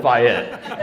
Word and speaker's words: Fayette: It is Thank Fayette. you very Yeah, much. yeah. We were correct then. Everyone is welcome here unless they call it Fayette.